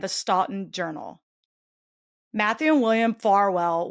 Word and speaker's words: Farwell: Stalton Journal, Matthew William Farwell, which every time I see it, I say in my head, farewell because it's spelled like that pretty much, you know, minus an E.